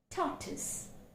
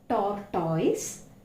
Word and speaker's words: tortoise: Now, the phoneme t, which is a voiceless consonant, toy, tortoise. It's not tortoise, it's tortoise.